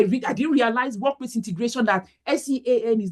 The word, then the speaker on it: Sean: me to, you know, I called Sian, instead of Sean. S-E-A-N is pronounced as Sean.